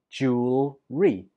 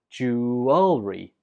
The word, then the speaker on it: jewelry: I pronounce this word with just two syllables, jewelry, jewelry. But other people pronounce it with three syllables, jewelry, jewelry. Both are fine, so you choose whichever one's easiest for you.